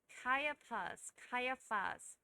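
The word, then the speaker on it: Caiaphas: 누구의 장인이었냐면 카이아파스. 그래서 이 표현도 이 단어도 생소한데 발음 때문에 다시 한번 보는 겁니다. 카이아파스.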